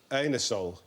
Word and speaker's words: Anusol: You can't ask for anusol in that way in a shop. You have to pronounce it anusol. It's a slightly embarrassing product.